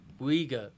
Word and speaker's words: Uyghur: no one seems to care much about the uyghur muslims that's how you pronounce it but i'm saying but it's it's